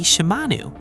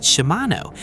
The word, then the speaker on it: Shimanu: Shimano in the Cochan language would identify the owner as male. However, if the pronunciation is Shimanu, it is identified in Cochen that the owner of that name is female. This is because the vowel sound for the letter U is feminine while O is masculine. Therefore, the pronunciation should be Shimanu, not Shimano because their servant Shimanu is a woman.